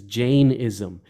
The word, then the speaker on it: Jainism: So, for example, I believe the proper way of pronouncing it is Jainism, which is a branch of Hindu thought.